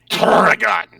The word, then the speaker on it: Turrican: No, you gotta roll the R's. Turrican.